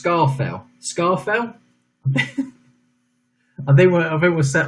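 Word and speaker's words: Scafell: So question, well, it's pronounced Scarfell.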